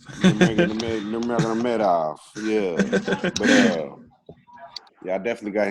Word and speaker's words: Nurmagomedov: Nurmagomedov. Nurmagomedov, yeah.